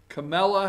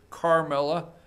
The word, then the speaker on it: Kamala: Number 27, Kamala Harris. I always put an R there because sometimes I pronounce her Carmela. Kamala, there's no R in there.